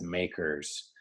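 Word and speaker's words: MACRS: accelerated cost recovery system which is pronounced as makers by tax accountants Macker might have been better but it's too late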